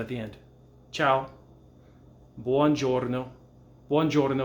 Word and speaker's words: giorno: sound at the end jordan is the same way and then gi makes the j sound horno man house cash